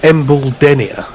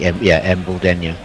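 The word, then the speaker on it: Embuldeniya: I'm going with Embledenia. Embledenia. Okay. Yeah, I was given some intuition in this before, Hendo, from both Tony and Nestlers, and they were saying, Embledenia.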